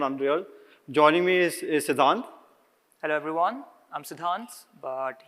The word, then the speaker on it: Siddhante: note over here so my name's got an e at the end but that e is silent so it's not Sante it's sidhant so I'm a I'm